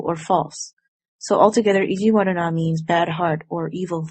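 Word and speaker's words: 意地悪な: a different vocabulary word this word is pronounced as ijiwaru na which means unkind mean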